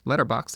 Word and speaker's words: Letterboxd: You spell it the way it sounds, except there's no E at the end. So letter BOXD if you're looking for it on the web.